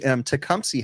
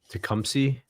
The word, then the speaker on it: Tecumseh: Tecumseh has one too that makes Tecumseh makes refrigeration compressors too.